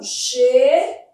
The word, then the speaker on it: cheguei: Esse U não é pronunciado. Fazendo a transcrição, cheguei. Esse U, como ele não é pronunciado, ele forma dígrafo.